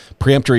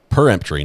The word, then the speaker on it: peremptory: him not not there preemptory is not pre it's unblockable not before peremptory not preemptory okay uh I I